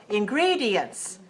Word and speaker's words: ingredients: what are some ingredients ingredients how many syllables in Greedy yes four or five four four ingredients okay stress the second one ingredients what are some ingredients